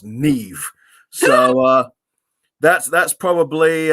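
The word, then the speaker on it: Niamh: um celtic names because you get n-i-a-m-h and it's pronounced neve so uh that's that's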